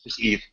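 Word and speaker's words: Yves: EES guo they claim that's okay yeah no Eve Eve Eve guo okay uh they claim Ubisoft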